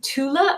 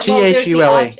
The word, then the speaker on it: Thule: Is it Tula or Thule? The Ultima Thule? Tula Society? Yeah. Thule.